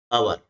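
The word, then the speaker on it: hour: अवर, तो यहां पर देख रहे हैं कि एच क्या है? ये साइलेंट है। एच क्या है? ये साइलेंट लेटर है, इसका उच्चारण नहीं किया जाता है, केवल इसको लिखा जाता है।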